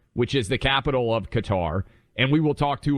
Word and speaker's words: Qatar: gonna head out to Qatar and I believe that is the official pronunciation that fox has decided on Buck I mean uh for the Arabic speakers out there it's cutter but but we're Americans